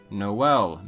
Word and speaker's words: Noël: Another example found in English as well is Noël, meaning Christmas, which originally came from French. In French, there is an umlaut over the E, indicating both vowels are pronounced, so it's not Noël.